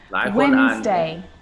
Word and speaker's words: Wednesday: scenario so what about the letter d it can be silent too wednesday wednesday handsome handsome sandwich sandwich so i'm not pronouncing the d in san diwich i'm just pronouncing the consonant n sound before it try it with me